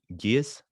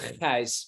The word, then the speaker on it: Gijs: Yeah, it's actually pronounced Gijs, but it's a Dutch name. Gijs. So Nice. yeah, that's pretty. Yeah, it's sometimes they say it's like ice with a G, so it's Gijs.